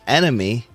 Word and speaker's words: NME: We're on map 19 NME, which I believe is pronounced enemy.